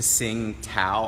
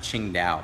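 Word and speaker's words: Tsingtao: go to a Chinese restaurant that says to sing Tow on it t s i n g t a o yeah Singa beer that's actually pronounced Ching da but I didn't know that before I went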